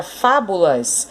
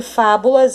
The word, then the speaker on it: fábulas: Então, aqui na palavra fábulas, a sílaba mais forte é a antepenúltima. Ó, vou contar de novo, ó. Última, penúltima, antepenúltima. Então, a sílaba mais forte de fábulas é a antepenúltima sílaba.